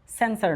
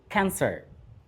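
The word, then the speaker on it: cancer: তাহলে এই শব্দের উচ্চারণ হচ্ছে সেন্সার নয় বা ক্যাঙ্কার নয়, এটার উচ্চারণ হচ্ছে ক্যান্সার।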